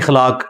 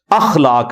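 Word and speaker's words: اخلاق: साथ होते हैं मसलन ये लोग बोल देते हैं खलाक खलाक लफ्ज नहीं है अखलाक लफ्ज है तो अगर हम ये लफ्ज यूज करेंगे तो अलिफ के ऊपर जबर डालेंगे इस तरह इंग्लिश के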